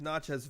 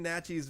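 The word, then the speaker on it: Naches: So since you're familiar with Natchez Valley, which I'm now pronouncing correctly, right? Natchez? It's Natchez Valley and Kiona Benton.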